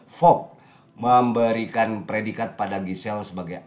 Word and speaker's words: Vogue: Vogue di Dibacanya Jakarta ya? Vogue. Oh, kira di Jakarta. Bukan, dibaca Vogue.